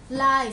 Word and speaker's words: life: Life. Life. No, mình luôn luôn phải có F ở phía sau nhé. Cái này là phải có F, đọc là life.